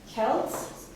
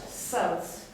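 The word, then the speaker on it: Celts: Protestant thank you okay now about Kels or sells sometimes you would hear the word sells it is the same thing both pronunciations are great foreign speee okay take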